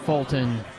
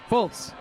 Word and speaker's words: Fultz: number 4, and Matt Fulton, men's number 3. Fultz. Matt Fultz, I should say. Joe likes adding syllables to things.